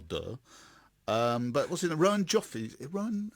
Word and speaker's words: Rowan Joffe: Rowan Joffe's.